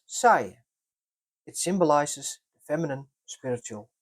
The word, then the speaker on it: Saille: The Ockham name is pronounced as Saye.